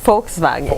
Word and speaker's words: Volkswagen: Não, é Volkswagen. Volkswagen. Volkswagen. Porque o Orlando Morando está em Wolfsburg. É isso? É porque o som de V tem F, então é Volkswagen.